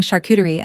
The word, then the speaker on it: charcuterie: She practiced saying charcuterie until it stopped rhyming with cutlery.